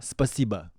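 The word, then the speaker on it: спасибо: Spasibo. Yes. Yes. Yeah. Spasibo. Yeah, perfect. Like spicy va. Spasiba.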